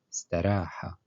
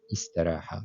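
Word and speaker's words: استراح: Donc ici, on prononce comme si on va prononcer tout de suite le sin, le sin qui est après. Donc staraha, staraha ou istaraha.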